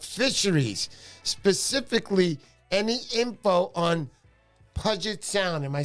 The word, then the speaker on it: Puget Sound: some info about fisheries, specifically any info on Puget Sound. Am I saying that right, honey? I don't know how to pronounce that.